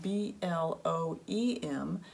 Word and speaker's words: Bloem: It's spelled B-L-O-E-M, but it's pronounced Bloem.